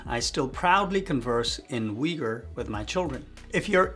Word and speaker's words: Uyghur: Asian City of kashgar my native language is ur which is pronounced as weager in English over the years I've